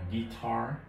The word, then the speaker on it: guitar: từ này thì ở tiếng Anh mình sẽ đọc là guitar guitar nó hơi khác chút xíu từ thứ